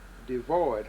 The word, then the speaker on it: Devoyd: senior there so how should I listen I devoid whole scene that's what I am now okay okay and that devoid is spelled d v o y d a capital